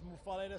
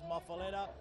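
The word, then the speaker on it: muffuletta: right some people says muala some people says mafala I call it m mafala so it is a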